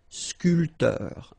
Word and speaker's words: sculpteur: This P here is not pronounced. So sculpteur, un sculpteur.